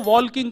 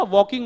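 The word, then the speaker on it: walking: एक दिन सुदीप भैया मेरे से बोले बोले बाहर चलो वॉल्किंग करेंगे। मैंने कहा भैया वॉल्किंग नहीं होता वॉकिंग होता है। एल साइलेंट होता है।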